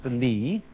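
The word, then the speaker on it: 理: Do you remember this word, which is pronounced Li, and which had as its original meaning the markings in jade, the fiber in muscle, or the grain in wood?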